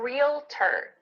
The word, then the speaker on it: realtor: And the last one in this category is I'm a realtor. Realtor. It sounds like just real plus T-E-R, but it's not spelled like that.